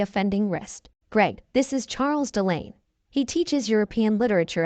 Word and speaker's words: Charles: while looking directly at Charles You Are So considerate my dear husband she replied Charles pronounce the French way charl looked like typical Euro